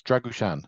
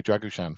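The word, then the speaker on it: Drăgușin: I get to say how do you say that name so oh that's dragushan dra okay dragushan from now on yeah yeah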